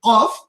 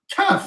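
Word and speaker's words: قاف: I need to know how to pronounce that. Allah al-Musta'an. Qaf. You said kaf.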